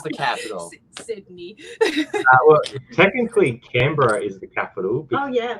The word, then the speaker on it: Canberra: I've never heard of Cambria, or I don't know if I pronounced it right, but I've never heard of that. Canberra. Canberra. Okay.